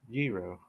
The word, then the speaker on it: gyro: Okay, Mountain Patriot Homestead said in Greek it is pronounced gyro. Gyro.